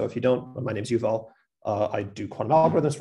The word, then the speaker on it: Yuval: the talk will be given by yuval so eval is our very own postdoc and he'll be